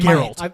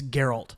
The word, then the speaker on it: Geralt: and girl are always she pronouncing in Harold I've only read it read it here's your alt Oh Jeff gift yeah it's Geralt yeah um but yeah it's interesting to see